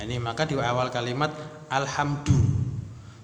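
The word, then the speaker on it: الحمد: maka di awal kalimat alhamdu jangan kita tiba-tiba baca alhamdi gitu tiba-tiba baca alhamda Nah kita bacanya alhamdu Nah kenapa kita alhamdu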